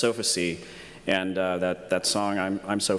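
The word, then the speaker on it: Sofacy: The second group, Fancy Bear, so named because their malware is can be pronounced Sophacy, and that song I'm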